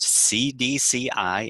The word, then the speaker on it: cedecei: So how appropriate is it that we start off today's call by talking about a mosquito named Culex CDCI, pronounced CDCI, and this is named in honor of the Centers for Disease Control and Prevention.